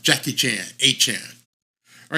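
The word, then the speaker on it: Achane: came out and said we all were saying it wrong we were all saying a Chan he came out and corrected everybody and said from here on out I want to be known as achan a Chan like Jackie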